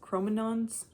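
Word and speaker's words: Cro-Magnon: Oh, there's the chroman Mcnons. Chromanons, that's how you pronounce it, from southwest Europe.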